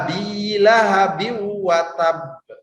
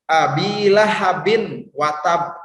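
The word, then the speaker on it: أبي لهب وتب: yang mau ini ada tanwin pada kalimat Hai Abi lahabiw watab Abi lahabiw watab Nah langsung masuk ke warungnya Ate Teh jadi ini bacanya bukan seperti ini abilahabi watab nah kayak gitu Abi lahabiw watab itu salah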